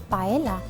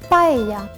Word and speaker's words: paella: And no, it's not pronounced paella, it's pronounced paella.